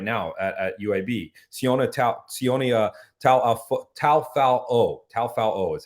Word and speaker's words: Taufao: our defensive coordinator right now at UAB, Sione Taufao is how you say his last name.